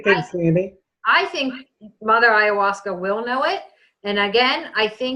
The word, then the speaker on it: ayahuasca: Mother, Scott, how do you pronounce that word again? Will Mother A know that you have brain damage? Ayahuasca. Ayahuasca, thank you.